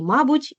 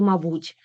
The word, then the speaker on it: мабуть: слова з правильним наголосом зверніть увагу в українській мові є де є слова із подвійним наголосом тобто використання цих варіантів буде правильним можна і мабуть і мабуть завжди і завжди помилка і помилка а далі найбільш уживані слова